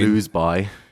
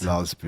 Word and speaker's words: Loseby: Harry Loseby. No. Is that how it's pronounced? Loathsby, mate. Loathsby.